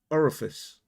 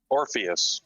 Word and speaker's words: Orpheus: Eternal is an the or how do I pronounce this right guys? Orifice. What's that? The name of the new hero. Orpheus.